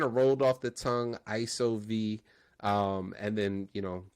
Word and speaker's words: ISO: there and of course the pronunciation of iso was a little tricky at first people were like ESO or I IO and and then that's